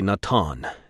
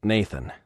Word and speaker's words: Nathan: him for a moment you are truly nataan yes nathan smiled actually it's pronounced nathan what's your name montrose